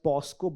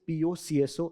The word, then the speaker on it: POCSO: A lot of people pronounce this as POSCO, but this is not correct. It is POCSO Act, right?